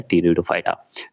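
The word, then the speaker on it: Pteridophyta: पी को silent कर दिया जाता है और बोला जाता है टेरिडोफाइटा।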